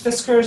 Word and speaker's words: Fiskars: kind do you have Gina if this curves Fiskars is how you pronounce that Fiskars yeah it's a great limb with an orange